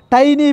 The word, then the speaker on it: tiny: And we could see shawls of tiny fish. What is the meaning of the tiny? Tiny means not tinny. Some of the students mispronounced this word tinny. Tinny is wrong pronunciation.